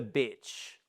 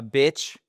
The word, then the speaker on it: beach: Et attention hein, c'est pas beach parce que c'est la femelle pour le chien, donc vous avez dog c'est le chien, la chienne c'est mais c'est aussi une insulte, donc méfiez-vous.